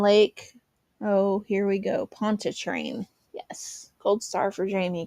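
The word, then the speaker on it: Pontchartrain: Pont Train. Yes. Cold star for Jamie because I pronounced it right.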